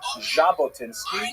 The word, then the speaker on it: Jabotinsky: In order to make the Jack sound, you actually have to add a D to the Russian alphabet. So his name is actually Jabotinski. If you imagine that's the way the French would spell it with a J as well, but it's often transliterated into English because we don't have the sound so popular as a simple J.